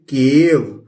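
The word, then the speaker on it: cave: इसी तरह सी फॉर क, और ए प्रोनाउंस करेंगे और वो लिख देंगे केव।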